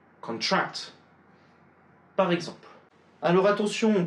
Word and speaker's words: contract: Si c'est un nom, un adjectif ou quoi que ce soit d'autre, l'accent va être porté sur la première syllabe.